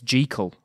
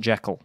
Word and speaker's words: Jekyll: Hyde not this strange case or a strange case secondly it suggested by some Stevenson scholars that were pronouncing Jekyll's name wrong it's G Cole not jack this is illustrated by